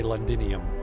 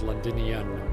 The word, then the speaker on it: Londinian: I keep wanting to say Londinium, but it's Londinian with another N.